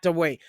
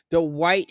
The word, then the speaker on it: Dwight: Okay, he's there, and I think I made a mistake on pronouncing his first name, because I don't think it's Dwight. Not Dwayne. Dwight Howard was at this party in the pink dress.